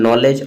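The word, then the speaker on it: knowledge: नॉलेज नॉलेज में के को साइलेंट रखा गया है। एन से इंडिकेट किया गया है। ठीक है? मतलब एन और के दोनों मिक्स है उसमें नॉलेज में।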